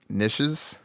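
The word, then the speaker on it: Knishes: nowhere uh rap snitch nishes I I believe you say that K I think the K is silent there's a K in front of it uh which features Mr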